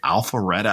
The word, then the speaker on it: Alpharetta: affluent Atlanta suburbs of Roswell and is it Alpharetta? I don't know how to pronounce that.